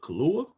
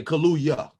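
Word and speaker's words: Kaluuya: cool i'd take you daniel uh kahlua like the drink yeah okay yeah kaluya kaluya all right at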